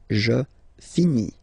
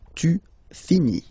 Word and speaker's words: finis: Remember, final S is not pronounced. Je finis.